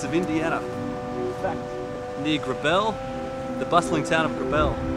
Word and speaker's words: Grabill: It's pronounced Grabill.